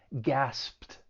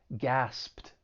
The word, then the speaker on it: gasped: the past tense gasp it's a regular verb so in the past it's going to end with Ed and because that final sound is voiceless the Ed is going to take on a t sound so we have the sound followed by the T sound which can be a little difficult it's going to sound like gasped gasped give it a try